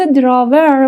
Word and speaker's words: drawer: بچه تلفظ دراور میشه دراور اوکی ای ها را آخرش در واقع خیلی خفیف تلفظ میشه تاپ دراور اوکی.